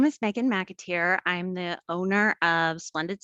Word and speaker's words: McAteer: joined today by Meghan McAteer. That's how you pronounce it, right, Meghan? Yes. Okay.